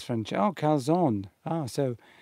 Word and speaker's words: calzone: Calzone, says Francesca. Oh, calzone. Ah, so Christina's saying you do pronounce the E.